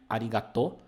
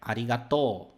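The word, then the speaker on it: ありがとう: você provavelmente conhece né a pronúncia não é arigatô é arigato arigator ele tem esse prolongamento aqui e desse forma dessa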